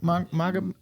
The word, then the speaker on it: Magomed: You're like, How do Johnny you pronounce his Walker. name? Magamoto? Magomed.